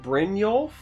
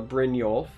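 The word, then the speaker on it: Brynjolf: I assume is uh brinol uh I'm pretty horrible with like the Nordic pronunciation but I feel like it's uh Brin yolf uh this is yet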